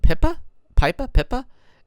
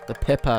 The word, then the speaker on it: pipa: There's the pipa again. I believe it's pronounced pipa, pipa.